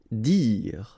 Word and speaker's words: dire: Dire. Same thing here, you don't insist on the final okay, dire.